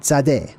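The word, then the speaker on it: Tsade: fly same exact pronunciation t and then Z Z or Zade that's how you pronounce that one that particular letter and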